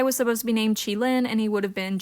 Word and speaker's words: Qilin: Jinafire was originally supposed to have a pet that would be named Qilin, spelled like Q-I-L-I-N.